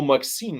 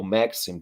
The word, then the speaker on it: Maxim: it is or or maxine machine gun machine gun right so uh maxim probably the right way to say it um so this is